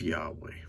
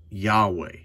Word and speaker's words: Yahweh: Now, I always, in my videos, choose to pronounce it Yahweh. But am I 100% sure that's the exact way it should be pronounced?